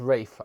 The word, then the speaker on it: Ralph: is well fight rafe it's spelt ralph it's pronounced rafe i've been told uh